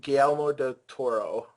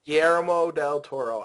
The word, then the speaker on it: Guillermo del Toro: yeah, it's Guillermo Guillermo Guillermo del Toro. Guillermo. Guillermo del Toro. I can't pronounce anything.